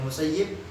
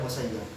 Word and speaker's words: Musayyib: Ada yang bacanya Musayyib, ada yang bacanya Musayyab.